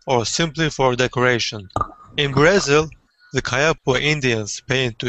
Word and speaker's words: Brazil: Usually, all around the world in English-speaking countries, it's not Brazil, but Brazil.